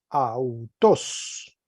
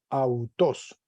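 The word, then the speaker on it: αὐτός: sílaba sobre la o y se lee autos repito autos masculino nominativo singular autor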